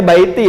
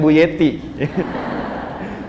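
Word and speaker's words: بيتي: Ya, bacanya baiti ya, bukan buyeti.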